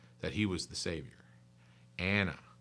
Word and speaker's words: Anna: Anna. That's spelled A-N-N-A in case it sounds like I'm saying Hannah, because Hannah's another wonderful, wonderful woman of the Bible.